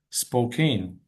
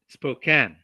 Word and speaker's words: Spokane: And I don't Yeah, it's Yeah, the Yeah, the spelling and the pronunciation are misleading.